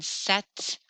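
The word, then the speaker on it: sept: four more to learn set set we set the world is a p doing in there it's silent it's a silent P set set weat I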